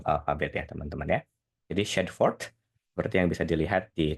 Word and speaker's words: Shadforth: SHADFORTH. Di sini kan tadi dia bilang SHAAD. Nah, si A-nya itu dia bilang ya.